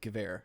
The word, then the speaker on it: Gewehr: Up top, we have the Gewehr 98 Sharpshooter. That's how you pronounce it, Gewehr.